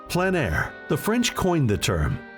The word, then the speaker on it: plein air: Called plein air, the French coined the term, which means open air or outdoors. The French pronounce it plein air.